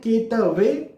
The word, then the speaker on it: केतुवे: फिर से मैं दोहरा देता हूं, ओम केम केतुवे नमः, ये सही प्रोनाउंसिएशन है। कई जगह पर आपको केतवे देखने को मिलेगा, उसे फॉलो ना करें।